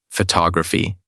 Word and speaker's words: photography: But when we change the form to photography, the stress shifts faux to o graphi.